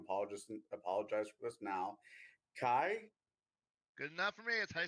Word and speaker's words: Khy: Kai?